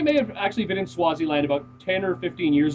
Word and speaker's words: Swaziland: I believe that's how it's pronounced. Yeah, that's Swaziland.